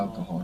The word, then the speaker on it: alcohol: Good, because Alcohol. we don't pronounce H in Spanish, do we?